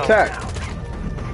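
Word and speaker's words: TAQ: It's called... It's spelled T-A-Q. Now you deploy to the TAC.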